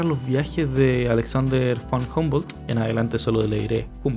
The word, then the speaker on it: Humboldt: de Alexander van humbold creo que se pronuncia humbold humbold el nuevo mundo de